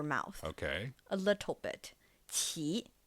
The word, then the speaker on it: 奇: It's not the CH sound from English, right? It's somewhere in between.